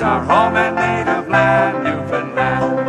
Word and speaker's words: Newfoundland: It's our home and native land, Newfoundland, it's pronounced like understand.